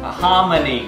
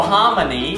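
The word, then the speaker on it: hominy: grits no no no you're thinking homon grits not homy and grits they're two totally different things well it is when you say it like that I mean no Hony is corn and homy is a sermon oh what did I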